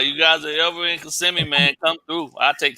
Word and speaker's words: Kissimmee: I'm in Kissimmee, bro. That's where you. That's how you say it. Yeah, I live in Kissimmee. I thought it was kissing me.